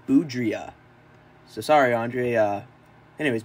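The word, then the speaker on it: Boudrias: dealt them for Andre boudre hello everybody um after filming this video and I'm in the process of editing I realized I uh butchered this guy's name it's actually Andre boudria so sorry Andre uh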